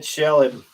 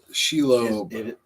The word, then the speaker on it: Shelob: Oh, Chad said Shelib. Nope. That's it, but the wrong pronunciation. Well, I'm not saying it right. Shelib is how he spelled it, but Shelob.